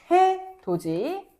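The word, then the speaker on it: 해돋이: 자, 해도지.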